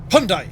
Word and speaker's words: Hyundai: And then, you know, a few of the other lads, the Koreans, don't they make Hyundai? Or Hyundai? Hyundai, according to the commercials.